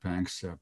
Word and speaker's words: Panksepp: Well, there was a great, great scientist called Jack Panksepp.